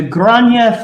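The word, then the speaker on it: Gráinne: Flag to Grania Fallen. That's how it's pronounced, by the way, Grania, or at least in the dialect that I know.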